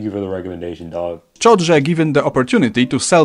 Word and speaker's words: szczodrze: Szczodrze given the opportunity to sell myself out. And so we're done with the word szczodrze.